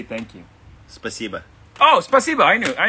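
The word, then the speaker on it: спасибо: really well how do you say thank you spasiba oh spasiba i knew i knew that yeah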